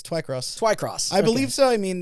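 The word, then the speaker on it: Twycross: books TW Twi cross oh I I uh spell it is it tww y yes yeah it's Twi cross Twi cross so I mean that I mean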